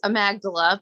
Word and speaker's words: amygdala: dalla d-a-l-a inc it's amagdala but the only way most people remember is because her name is amy gabriela so people are like oh it's amygdala inc and it's no it's amagdala but okay but uh